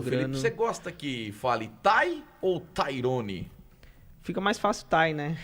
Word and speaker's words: Ty: muito passar pro Felipe você gosta que fale taii ou Tyrone fica mais fácil taii né Tai Tyrone tem um jogador de basquete Tyrone crowell que é um grande jogador uhum e mas fica Tai né Tai Sounds é eu fico eu falo